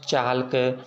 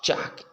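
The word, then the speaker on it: chalk: टॉल्क, वाल्क, चाल्क, ठीक ना, ये सब ऐसे नहीं। टॉक, वाक, चाक, याक, फॉक, ये हमारा के पहले आने वाले अक्षर को हम साइलेंट पढ़ेंगे।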